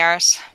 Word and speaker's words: arse: It's a pain in the arse. I appreciate your pronunciation of arse as opposed to ass. That's more of a Newfie pronunciation, I think, than a...